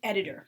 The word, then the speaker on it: Edith: originally edith or edit it would be like the way it was pronounced in german because the th is pronounced as a t so anyway um edith